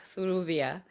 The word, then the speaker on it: Sylvia: Yes, well, there's this joke that the Ovambo-speaking people don't know how to pronounce Sylvia. So Sylvia is typically known as Suruvia, which is Suru in short, and so that's basically my nickname.